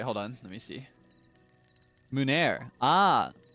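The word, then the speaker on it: meunière: Mounier? Oh wait, hold on. Let me see. Munair. Ah, so I don't even pronounce the muni, like the ie. It's just munair.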